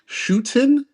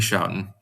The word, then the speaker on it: Schouten: Uh, with let's see here, Henry Schuton. Is that how you pronounce Shouting. it? No, it's Henry Shouting.